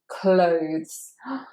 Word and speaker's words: clothes: Now the O sound is the diphthong, which is the same as in phone and bone and roam. Clothes, clothes.